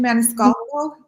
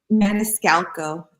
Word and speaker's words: Maniscalco: I can't pronounce that. Maniscalco? Maniscalco. It's like Italian.